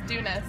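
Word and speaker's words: Doonis: that's your last name no my last name's dunis but oh okay cuz I saw your Instagram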